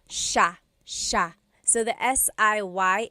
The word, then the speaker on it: siya: It looks like it should be pronounced siya, siya, but it's actually pronounced sha, sha.